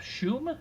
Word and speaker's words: Schum: Jacob Schum, is that what we said his last name is? Yes. Correct pronunciation on the last name. So Jacob Schum finishes with more punts